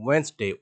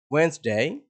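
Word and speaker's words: Wednesday: এখানকার এই ডিস অক্ষরটি এখানে সাইলেন্ট থাকবে। আপনি বলবেন ওয়েডনেসডে, ওয়েডনেসডে নয়, ওয়েডনেসডে, Thursday, again Thursday and Friday.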